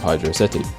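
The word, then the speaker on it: Hydrocity: which is obviously trying to evoke feelings of Hydra City yes this is how it's pronounced fight me and seeing as how that's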